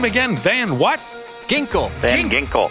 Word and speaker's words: Van Ginkel: Van Ginkel. Van Ginkel.